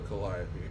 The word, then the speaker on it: Calliope: We'll go to Calliope. And I only know how to pronounce that because Felicia Day, the actress, named her daughter Calliope.